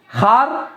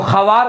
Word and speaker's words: خوار: دیکھیے ایک خار تو یہ ہے، خیر خار اگر ہجا کریں گے تو خوار، لیکن پڑھا جائے گا خار، اور ایک ہے خار،